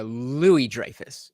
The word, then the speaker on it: Louis-Dreyfus: video of Julia Louis-Dreyfus Julia Louis-Dreyfus it's this the S is silent doing a collab with